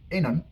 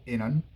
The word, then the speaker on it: inan: Let's take the word inan, which is a boy. But then if you slightly mispronounce the first vowel or you shorten the first vowel, inan, it becomes female, which is a girl.